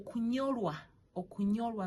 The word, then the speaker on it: kunyorwa: So you see how I'm using my tongue. Yes. Or kunyorwa means like to worry in your heart. Or kunyorwa. So that's how you pronounce the ny.